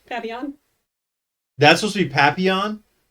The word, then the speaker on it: Papillon: It's Papillon. Oh, well, whatever. I read it as Papillion.